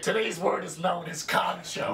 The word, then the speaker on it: kancho: word is known as khan show not really pronounced exactly the way it's spelled now the direct translation for kancho is enema now kancho